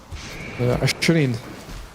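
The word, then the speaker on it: عشرين: Asharin. Asharin.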